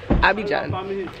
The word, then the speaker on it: Abidjan: Abidjan.